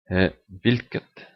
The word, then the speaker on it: hvilket: Hvilket. Oh, this generally the T in neutral is silent for the nouns. You can also use it silent here, but it's better just hvilket hus.